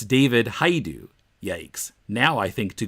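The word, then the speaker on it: David Hajdu: the ten cent plague his name is not David Hodge do it's David hi do Yanks now I think to google it by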